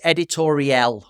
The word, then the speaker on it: Editorielle: It's Editorielle, like L'Oreal, but Oriel, Editorielle.